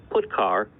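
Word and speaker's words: putchar: lot three of the most popular they are pronounced print F put car and puts each function sends one or more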